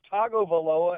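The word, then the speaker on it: Tagovailoa: okay you're talking about how do you say it sir it's Togo voloa and they've been pronounced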